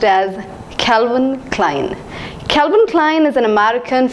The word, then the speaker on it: Calvin Klein: Calvin Klein Calvin Klein I thought it should be pronounced as Calvin Klein but I was wrong it is pronounced as Calvin Klein Calvin Klein is an